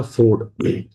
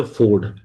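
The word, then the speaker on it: fjord: इस लेक को हम कहते हैं एस अ फोर्ड। एफ जे ओ आर डी जे is always silent over here. So we call it एज अ फोर्ड।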